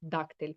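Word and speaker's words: дактиль: І абетка жестової мови називається Дактель, як сказав Олександр з наголосом на а.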